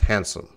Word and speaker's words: handsome: They see the hand, they see the some. Oh, this is an easy word, handsome. But you can see with the pronunciation, to the right of the word is the IPA, and it's just handsome.